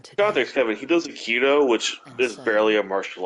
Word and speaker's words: Aikido: No, Aikido. Aikido, that's how it's pronounced.